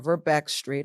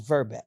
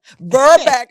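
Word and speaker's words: Verbeke Street: I'm located at the Millworks on Verbeek Street or Verbeck Street. I've Yeah. heard it pronounced Yes. both If you're from ways. Harrisburg, it's Verbeck. Verbeck.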